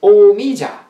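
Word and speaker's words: 오미자: Wu Weizi in Korean is pronounced Omija. Wu Wei means five flavors. Omi means five flavors in Korean, okay? Weizi is the Chinese pronunciation. Omija is the Korean pronunciation.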